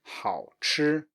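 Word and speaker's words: 好吃: And then we have the last one, tasty, 好吃, 好吃.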